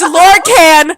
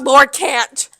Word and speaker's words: Lorcan: It's Lorcan, not Lorcant.